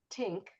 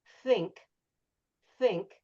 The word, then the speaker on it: think: Another thing is you can have a little tissue and if you're saying tink, maybe it's not going to move the tissue, but if you say think, you can see the tissue move.